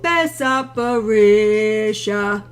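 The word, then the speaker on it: Besart Berisha: Oh, Bessa Barisha.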